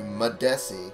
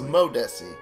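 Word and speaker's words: Madesi: needing to talk to madessi greetings I've been mispronouncing it this whole time I thought it was modesty I have a mammoth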